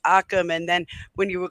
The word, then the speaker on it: Occam: It's just when you mispronounce Occam's razor, it's Occam, and then when you were calling it something else, when it's Odinism, and that was frustrating me.